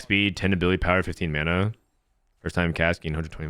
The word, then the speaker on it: mana: You say mana? No, people say mana. Mana is a word from Maori, and they pronounce it like Mortdog.